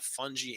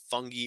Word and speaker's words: fungi: decomposition decomposition by the fungi and bacteria fungi or fungi is fine with me if you pronounce it that way tomato tomato potato potato